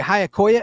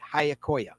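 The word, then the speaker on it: Giacoia: And his last name, by the way, Hayakoya, is spelled not how it sounds. It's spelled G I A. The G is silent. C O A. Frank Hayakoya.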